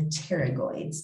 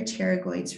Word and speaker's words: pterygoids: the masseter and the pterygoids the p is silent uh here are the